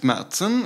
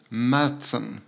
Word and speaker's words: Märzen: as in Swedish and the a with the two dots is pronounced a and it's pretty much the same in German so this is supposed to be called mson Fest mson and this